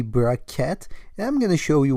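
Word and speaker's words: bra-ket: So, of course, you can pronounce this like Braket, but it's actually Braket.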